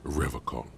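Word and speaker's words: Revachol: strong for rev call he pronounces Revol with a hard K unlike other people serious question time this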